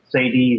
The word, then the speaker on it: Cedille: They're called Sadie Records, but they are known worldwide. That's spelled it's spelled Cedille.